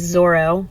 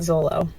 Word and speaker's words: Zoro: And I've also learned that it is Zoro, not Zolo.